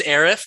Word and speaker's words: Arif: shock me at all i was convinced it was arif before you joined oh perfect okay no one pronounces it like that that's great classic yeah well welcome to the show uh a reef it's uh it's been